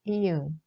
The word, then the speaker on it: 이응: The eighth simple consonant is 이응. We write it like a circle. We start from the top and we turn counterclockwise. It is pronounced like the end of parking or jogging.